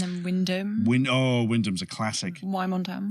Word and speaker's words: Wymondham: Wymondham. Yes, Wymondham. Just totally abbreviated to Wyndham.